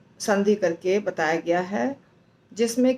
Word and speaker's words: हि: अब देखिए, एक शब्द है ही जो है वो छोटा है, छोटी ई की मात्रा है। इसका मतलब उसका उच्चारण होना चाहिए ही ऐसे, ही नहीं। परंतु जब हम राग में गाते हैं तो दीर्घ बोल देते हैं, क्योंकि राग के कारण वो दीर्घ लगता है।